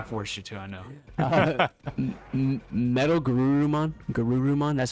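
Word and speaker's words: MetalGarurumon: Metal Garurumon.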